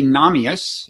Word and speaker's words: Nahmias: You are Nahmias. Was that the right pronunciation?